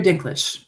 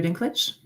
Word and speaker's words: Dinklage: Uh Peter Dinklish. Peter Dinklage.